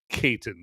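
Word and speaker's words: Caton: boy Sammy in in Sinners, played by Miles Kaitton, I think is how you say his last name. I was I was watching a video with Ryan Cougler, the director of Centers, and he pronounced it, Kaitton.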